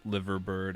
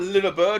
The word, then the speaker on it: Liver bird: commemorative Liver bird. 125. Yeah, I think it was. Not a liver bird, it's a liver bird. Liver. I mean, it's spelled with an I.